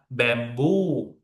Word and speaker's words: bamboo: But to be honest, you need to stress in the second syllable. Hotel, hotel, or mistake, mistake. Okay, common, machine, machine. Okay, the next one, class, bamboo, bamboo.